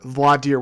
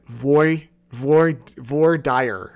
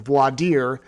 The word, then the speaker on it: voir dire: multiple other hearings where vladir was talked about but last night I mispronounced it I said VOR Dyer or something like that and I heard about